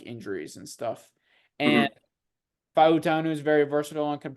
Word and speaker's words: Fautanu: I've heard that it's technically pronounced Fautanu.